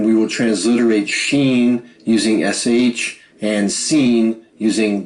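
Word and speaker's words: שׁ: On the other hand, if you see the dot on the top left of this letter form, pronounce it as S, as in sun. Consistent with this pronunciation, we will transliterate Sheen using SH and Sin using the letter S.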